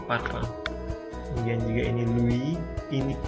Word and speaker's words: parfum: dalam bahasa Indonesia sebenarnya dalam bahasa Prancis itu bacanya bukan parfum ya tapi parfa kemudian juga ini Louis